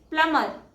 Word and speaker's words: plumber: The next word is plumber and the correct pronunciation is plumber. B is silent in this word.